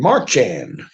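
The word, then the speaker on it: Merchan: Martin remember that name marchan is spelled like marching m-a-r-c-h-a-n so we got a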